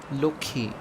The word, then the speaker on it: Lakshmi: itself take for example the word Lakshmi in Hindi this word is pronounced as Loki in Bangalore also take the